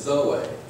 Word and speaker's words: Zoe: It says the Greek word for the eternal divine life of Christ that saved us is Zoe. So Zoe is spelled Z-O-E.